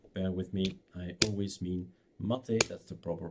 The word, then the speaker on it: MATE: four point one ma time I'll probably say makes from time to time so with me I always mean mater that's the proper pronunciation but it's hardwired in my brain nothing